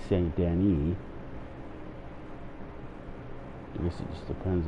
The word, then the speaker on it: Saint Denis: That's the correct saying of that is Lagros. Just like the correct saying of Saint Denis is Saint Denis.